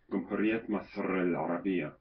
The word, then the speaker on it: جمهورية مصر العربية: It's let's see, in Arabic it's pronounced جمهورية مصر العربية.